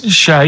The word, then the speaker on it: Che: Che is like shake, and his surname is like guitar.